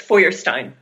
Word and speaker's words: Feuerstein: of your last name sure it's fyin forstein see I I've pronounced it several different ways I've heard it pronounced several different ways say it again for me so it's forstein forstein thank you and was